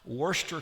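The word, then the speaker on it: Worcester: Worester County. I guess it's like the same as Worershir sauce.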